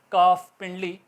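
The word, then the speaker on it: calf: एफ से पहले अगर ए जाएगा तो ल साइलेंट रहेगा काफिंडली सी ए ल एफ बोलने में कफ होगा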